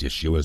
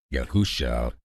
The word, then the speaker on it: Yeshua: They pronounce Yeshua's name as Yahusha or Yahawah Yah Yahawashi.